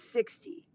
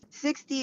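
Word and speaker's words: Sixt: Go with 60. 60 is spelled SIX and the letter T. 6T.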